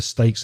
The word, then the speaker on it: stake: me explain that it's a play on words because steak s-t-e-a-k of course kane and stake same pronunciation s-t-a-k-e is where for example